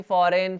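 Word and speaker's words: foreign: यहाँ पे ना जी साइलेंट है, फॉरेन, फॉरेन हो जाएगा ये, फॉरेन, फॉरेन में जी क्या है, साइलेंट है।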